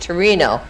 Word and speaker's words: Torino: does rob says turn turret is pronounced torino torino by the italians yes yes okay there